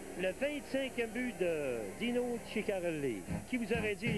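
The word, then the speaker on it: Ciccarelli: 90 incroyable et chicarelli il y en a qui se demande comment il faut prononcer son nom parce qu'il y en a plusieurs aux États-Unis qui prononcent sarelli et nous on dit tout le temps chikarelli pour une bonne raison c'est qu'on lui a demandé oui donc ici voilà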